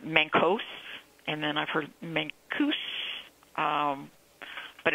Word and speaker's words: Mancos: The pronunciation that I have learned in the 5 years that I've lived here is Mancos, a U sound.